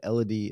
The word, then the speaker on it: Elodie: So she said Elodie, it rhymes with melody.